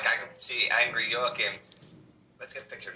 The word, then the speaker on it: Joachim: his name was, I didn't know how to pronounce this, so I was thinking Joaquin or Joachim, but his name is Joachim.